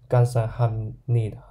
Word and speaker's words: 감사합니다: It's pronounced as 감사합니다 and 감사합니다 and thank you.